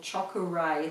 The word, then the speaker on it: Chokurei: So you can Google that online and find out how to do the symbol Chokuray. That's Chokurei is how it's spelled, Chokuray, and that's an opening